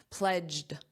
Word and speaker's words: pledged: Let's review that pronunciation, pledged, d, a very soft d, and you need that pledge, j, j, pledged, pledged.